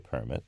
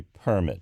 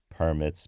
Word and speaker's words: permit: this case construction work that is usually permit with the accent on the first first syllable the initial syllable when it is a noun so the stress is on the initial syllable in the case of the verb I'll give you an example per-'mit me to introduce myself where permit means allow but I have actually heard people call permits per-'mits so I can't say